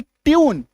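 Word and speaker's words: tune: टी यू एन ई ट्यून य में बड़ी उकार की मात्रा जे यू एन जून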